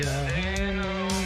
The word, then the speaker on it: Erinnerung: The pronunciation of this word is not easy because you don't need, looks like you don't need to pronounce this E here.